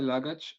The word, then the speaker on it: luggage: of my courses that the ending a g e yeah is almost always pronounced each think about words that end in each luggage baggage village manage you see it's always each each this ending comes from